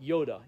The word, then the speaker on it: Jodah: the son of jodah now in hebrew the letter j is often pronounced y and so we see that in the the name of god yahweh and we also see it here where jodah would be pronounced yoda in hebrew now i don't know